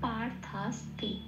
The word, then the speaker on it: পার্থাস্তি: Thus তিটা free হয়ে গেল, তিটা যেমন আছে তেমন উচ্চারিত হলো। তাহলে শব্দটার উচ্চারণ পেলাম পার্থাস্তি।